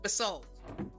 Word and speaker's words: basalt: a disaster and I'm I've been told it's pronounced basalt I don't like that I don't like that